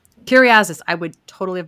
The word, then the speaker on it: Kyriazis: Kyriazis. I would totally have butchered that.